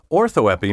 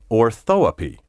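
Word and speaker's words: orthoepy: proper pronunciation of words ortho epi may also be pronounced ortho api-- which just goes to show you that when it comes to pronunciation even the experts don't always agree however you will run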